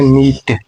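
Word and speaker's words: knit: अगला है दोस्तों, के बाद यन आया है और यन के बाद आ गया है आई, यानी कि आई एक वावेल है, तो इसीलिए के साइलेंट हो जाएगा, तो इसको बोलते हैं नीट।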